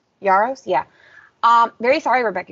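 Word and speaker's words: Yarros: Yaros, that's how you pronounce Yaros.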